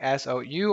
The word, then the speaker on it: sou: so it was so some person is might contend and say hey it's written like s-o-u or d-o-u and you have to pronounce oh you have to sound out all of the vowels bollocks it's not really that you can say so okay but so is what you're gonna hear in everyday conversation you really want